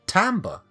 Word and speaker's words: timbre: In USA American English, we pronounce timbre as timbre. Like theatre or theatre.